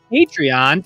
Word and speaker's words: Patreon: Now, before we move on, just a reminder that we are on Patreon. Or as it's actually pronounced Patreon.